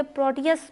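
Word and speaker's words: Proteus: पर एग्जांपल पर देखिए प्रोटियस लिखा हुआ है इसे प्रोटियस प्रोनाउंस करेंगे प्रोटियस क्या है प्रोटियस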